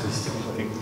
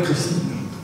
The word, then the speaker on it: Christian: je m'appelle Christian et les chinois ils arrivent pas à prononcer Christian et d'ailleurs dans beaucoup de langues ions n'arrive pas à le prononcer et donc il m'appelait Christine ce qui bien sûr faisait